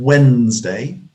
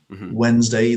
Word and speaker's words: Wednesday: And And Wednesday, Wednesday, the D generally is dropped out of same in that.